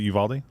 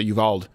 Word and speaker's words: Uvalde: in texas i uh how do you pronounce the city correctly because of aldi what is it uvalde is it uvalde i've heard also people say evolved i don't think it's evolved i don't think it's